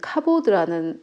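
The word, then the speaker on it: כבוד: 구약은 히브리어로 기록되어 있는데 히브리어로 영광은 카보드라는 발음이고요.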